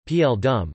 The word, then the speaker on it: Paul Doumer: Joseph Athanase Gaston Paul Doumer, commonly known as Paul Doumer, French pronunciation, P.L. Dum, the 22nd of March